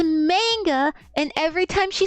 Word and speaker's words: manga: She would say manga. And dude, that pissed me off. I was like, "It's not manga. It's manga."